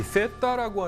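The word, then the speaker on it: Zeta: 근데 이제 그 이제 G라고 하는 영어식 발음을 그 에스파냐어로 바꾸면은 세타가 되는 거고, 세타 우노, 세타 도스 뭐 이렇게 이제 불렀던 것입니다.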